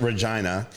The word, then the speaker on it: Regina: So, you're pretty much just describing like anyone from Regina, Saskatchewan, which is where he's from. By the way, by the way, it is pronounced Regina. Uh why? Cuz why say Regina?